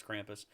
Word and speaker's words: Krampus: I don't, is that how you pronounce it? Is it the holiday movie about the evil goat demon? Yeah, that's Krampus.